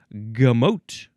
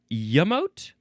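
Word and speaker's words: gemot: Next we have gamote or yamote.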